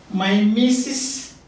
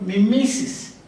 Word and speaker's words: mimesis: concept that this mean my missus or me missus both way you pronounce this my missus on the missus and this is that